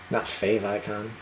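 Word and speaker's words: favicon: yeah I appreciate that we pronounce favicle on the same fave icon um okay what did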